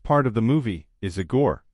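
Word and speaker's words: Igor: of the movie is aore pronounced aore Marty Feldman it's not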